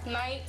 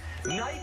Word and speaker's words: knight: Knight. Knight with a heart.